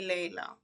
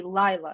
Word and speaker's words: Lea: friends dla okay so but it's supposed to be Laya right it's it was supposed to be but it makes no sense cuz it's spelled Lea my parents thought they were spelling Laya and they were spelling Lea cracking that's embarrassing right